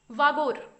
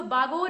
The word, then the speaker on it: बागोर: Has been obtain from वागोर। ये जो बागोर या वागोर नाम का क्षेत्र है, यहाँ पर वी नहीं बल्कि बी होना चाहिए, बागोर लिखा जाता है, बी से इसकी स्पेलिंग स्टार्ट होती है फिलहाल।